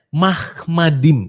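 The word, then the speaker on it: מחמדים: Enggak ada bacanya seperti mulutnya Abang Nandar tuh mu itu gak ada ya. Mahmadim itu bacanya ya. Bukan mu.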